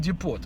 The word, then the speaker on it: Depot: By the way, it is Home Depot, not Home Depot, right? Like my younger boy always corrects me. He says, Dad, it's pronounced Depot. T is silent.